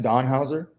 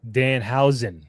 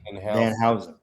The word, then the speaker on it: Danhausen: Don Hauser? Danhausen. Danhausen.